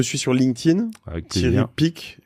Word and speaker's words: Picq: On te suit sur LinkedIn, avec Thierry Pic, qui s'écrit PICQ. C'est Q, parce que tu sais que j'ai un autre Thierry Pic iconique sur mon podcast Génération Do It Yourself, voilà, avec donc un K.